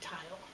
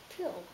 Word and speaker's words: tile: so you need this the silent e is invisible because it doesn't say anything but it will tell the vowel here say your name and he says title